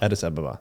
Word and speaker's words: Addis Ababa: Addis Ababa, thank you.